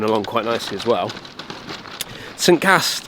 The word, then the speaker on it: St-Ca: St-Ca, or Sanka, as the way you pronounce it, is a beautiful layout.